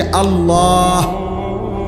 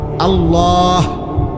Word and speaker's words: আল্লাহ: শেষে আল্লাহ। শেষে একটা গোল হা আছে ছোট হা। আল্লাহ মানে আল্লাহু তো হুটারে শ্বাস ফেলাইলে